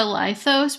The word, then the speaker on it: Lithos: They seem to show preference for the lithos pronunciation, but they also said they were fine with either. So it is Lithos because we said it was.